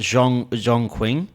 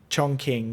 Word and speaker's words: Chongqing: Did you go to, was it Zhongqing? Chongqing, yeah.